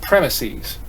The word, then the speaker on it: premises: you a definition here the plural plural is pronounced premises right in case you're not aware of that